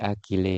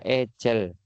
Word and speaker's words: agile: Jadi ini bacanya bukan agile ya teman-teman ya. Salah bacanya adalah agel. Agel software development ya. Jangan malu-maluin ya. Di luar sana masih banyak yang bilang namanya agile software development. Itu bukan agile tapi ag software development gitu ya.